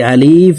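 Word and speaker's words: ألف: আলিফ এভাবে টেনে পড়ে থাকি। এভাবে টেনে পড়া যাবে না। আলিফ হরফকে তাড়াতাড়ি করে উচ্চারণ করব।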